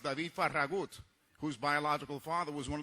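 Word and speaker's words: Farragut: the first full an United States Navy David faragate or more accurately pronounced David faragut whose biological father was one of those Spanish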